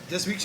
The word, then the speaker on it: Dismukes: So I'm going to introduce John Dismukes. Is that how you say it? Dismukes, you got it right.